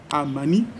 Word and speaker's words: Amani: aujourd'hui, qui est Noah Amani. Comment on écrit Noah? Comment on s'écrit Noah? N-O-A-W-A. Et Amani, c'est comme vous entendez, aussi simple que ça.